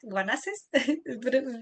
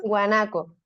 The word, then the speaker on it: guanaco: Guanaces. ¿También la pronuncia? ¿Eso? Guanaco, Ah, guanaco.